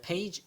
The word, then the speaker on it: phage: 이 영어 발음이 이제 페이지 약간 뭐 이런 식인데 편하게 파지라고 하겠습니다.